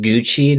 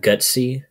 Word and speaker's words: Gucci: bag I'm not rich is pronounced Gucci not gutsy I don't think the